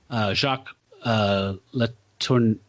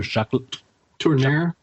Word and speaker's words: Jacques Tourneur: Jacques Letourneau, I forgot how to say his name. The director, Jacques Tourneur.